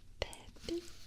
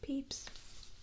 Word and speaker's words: Pepys: His last name is pronounced Pepys.